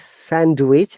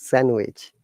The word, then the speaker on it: sandwich: So now Shashwan, the next word is sandwich, but D silent. It's not sandwich, it's sandwich. Sandwich, yeah, Would sandwich.